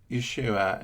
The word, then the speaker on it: Yeshua: that, and that's because originally the first letter is basically a Y, and then so anyway, Yeshua is Jesus's proper name, might not be perfectly pronounced, but with a Y, and Yeshua is also